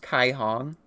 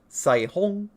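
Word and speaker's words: Caihong: Mandarin, technical correct pronunciations, this is not pronounced Kai Hong. Mandarin and Chinese in general is a very tonal language, so it's very difficult for me to pronounce. But this name, not Sai Hong, it's named as Rainbow. It's pronounced to the best of my ability, Sai Hong.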